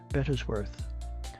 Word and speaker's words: Bettesworth: "Sir," says he, "I am Sergeant Bettesworth." In his usual pompous way of pronouncing his name in 3 distinct syllables, "Of what regiment, pray?"